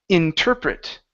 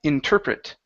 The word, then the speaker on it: interpret: word here it's pronounced interpret the stress is right here in the middle interpret interpret okay yeah so uh